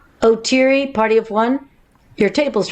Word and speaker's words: Oteri: minute you just did you just pronounce it otiri not oteri nobody knows it's pronounced like that i did the stupidest